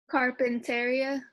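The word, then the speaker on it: carpintería: Carpinteria. Mm-hmm. Carpinteria. Remember but all others are strong. However, when it has an accent, it becomes a strong vowel. So then you pronounce it carpinteria, carpinteria, carpinteria.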